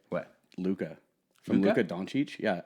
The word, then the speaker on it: Luka: Lucas beza as well Lucas Luca yeah but it's kind he's kind of European so I think it's pronounced Luca oh but don't don't